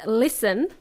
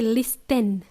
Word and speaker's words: listen: this okay the word listen first of all the letter T is silent we don't say listen we say listen T